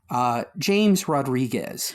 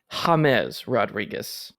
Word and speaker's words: James Rodríguez: James Rodríguez. Yeah, that is incorrect. Oh. It is actually James Rodríguez.